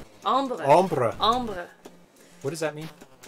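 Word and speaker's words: ombré: and get funny looks it's french not spanish ombre ombre what does that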